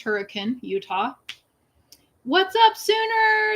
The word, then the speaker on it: Hurricane: caught lila virgin utah just outside of hurricane pronounced hurricane utah what's up sooner it's good to see